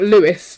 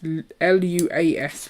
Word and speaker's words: Luas: And it's not Lewis like the person's name. It's Luas, Luas. But I checked with Si, who is a born and bred Dubliner, and that is how you say it.